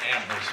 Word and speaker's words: Amherst: Yeah, we pronounce the H in Amherst, y'all.